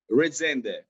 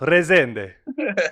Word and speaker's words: Rezende: Rezende. I want to say it Italian almost. Rezende. Bravo.